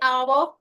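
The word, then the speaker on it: hour: आपको बताया था कि जब भी अगर एच शुरुआत में आता है या फिर एच किसी वॉल के पहले आता है तो उसका उच्चारण हम नहीं करते जैसे आवर ऑनेस्ट एयर वैकल राइम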